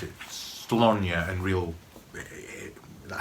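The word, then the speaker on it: Sláine: AD, and the series was called, well, everyone pronounced it Slonia, and real, that's how it's meant to be pronounced, but I think most people just pronounce it Slain, S-L-A-I-N-E.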